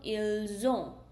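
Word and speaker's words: ils ont: You have to pronounce it like zo. So it become ilzo.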